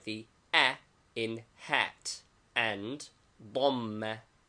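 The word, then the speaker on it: ضمة: The vowels are fatha, a, pronounced like the a in hat, and dhamma, u, as in bull, both written above the letter, and kasra, I, as in hit, written below the letter.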